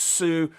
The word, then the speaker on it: Sioux: This is pronounced Sioux. This French named them because it's pronounced completely differently than it's spelled the Sioux, but it's pronounced the Sioux Indians.